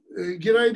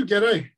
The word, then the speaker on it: Geray: Giray değil, Geray ibaresini tercih ettim. Çok basit bir sebepten. Çünkü bu hanedanın Kırım'daki telaffuzu budur ve o hanedan da özellikle Kırım'daki telaffuzuna göre adlandırılmalıdır diye düşünüyorum.